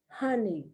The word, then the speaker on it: honey: This is homey and this is honey, because the O in homey is long and the O in honey is short.